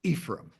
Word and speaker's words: Ephraim: Um, it's Er, and a lot of people pronounce it differently, but it's Ephraim.